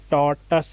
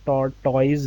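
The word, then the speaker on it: tortoise: अच्छा, ये टॉर्टस है, टॉर्टॉइज नहीं है, टॉर्टॉइज इज a wrong pronunciation, टॉर्टस। टॉर्टस है।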